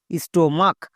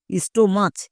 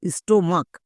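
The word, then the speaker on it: stomach: next ST ও এম এ এইচ মাক স্টোমাক সিএইচ এর জন্য কো উচ্চারণ হয়েছে অনেকে একে ভুল করে চো উচ্চারণ করে দেই স্টোমাচ এরকম উচ্চারণ করে এরকম উচ্চারণ করা চলবে না স্টোমাক হচ্ছে এর সঠিক উচ্চারণ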